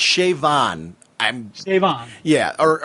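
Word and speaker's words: Siobhan: with the pronunciation but the b and the h together makes a v sound in the gaelic pronunciation so um i figured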